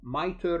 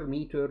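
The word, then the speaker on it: MITRE: managed by a company called miter meter depending how you pronounce it so this cve assigned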